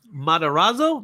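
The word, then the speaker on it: Matarazzo: Um, Madorazzo.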